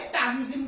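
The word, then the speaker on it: ptarmigan: क्या बोला जाता है, टार्मिगन भी उसको बोला जाता है। तो इसमें क्या है, पी क्या है, साइलेंट रहेगा, ओके।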